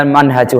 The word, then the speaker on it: Manhaj: Makanya judulnya kita Manhajul Hayah. Ini kalau pendek, bacanya manhaj. Kalau minhaj itu panjang ya. Seperti Minhajul Muslim itu bacanya minhaj. Ya, kalau ini haknya pendek, bacanya Manhajul Hayah.